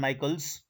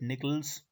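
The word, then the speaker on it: Nichols: given by ziggler and michaels or some people call it nickels whatsoever you want to uh pronounce it so zigglers and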